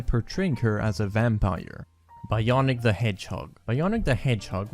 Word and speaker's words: Bionic: His name was instead chosen as Bionic, rhymes with Sonic, and the B is for basketball.